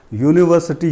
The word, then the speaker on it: university: For example, he is university teacher. So although the first letter of the word is U, it is a vowel, but it is pronounced as consonant. So we use A, not N. So university, yeah, this sound is yeah.